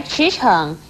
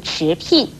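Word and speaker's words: 驰骋: 美而言，所以娉婷不可以念成聘婷，而驰骋也不可以念成驰聘。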